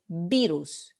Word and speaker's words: virus: So how do you pronounce this? You say virus. We don't say virus. Same like English, virus, virus. Entonces es la primera sílaba que es tónica, la primera vocal I, virus.